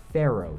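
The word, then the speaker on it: faro: four is what's called a pharaoh shuffle not like the egyptian pharaohs it's spelled f-a-r-o and it's actually named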